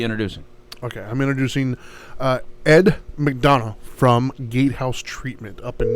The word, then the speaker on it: McDonough: And we said it right, McDonough?